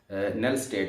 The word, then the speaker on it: NILSTAT: इसकी स्पेलिंग है NILSTAT, नेल स्टेट इसको बोलते हैं।